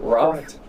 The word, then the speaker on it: Wroth: So, that was our uh live playthrough of of Roth, right? That's how we pronounce it. Roth.